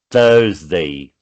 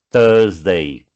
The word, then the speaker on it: Thursday: Agora é Thursday. O TH você pronuncia um T com a língua presa entre os dentes. Again, Thursday, a sexta, Friday, só o Saturday.